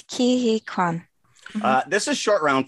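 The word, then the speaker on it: Ke Huy Quan: divorce paper can someone give me a proper pronunciation for this actor's name by the way it's kihikwan uh this is short round from indiana jones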